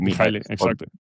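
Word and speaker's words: Mihály: like that, and and he's his expert as Mihaly, if I would call it that, right? The Hungarian pronunciation of Mihaly is is is what you just said, Mihaly.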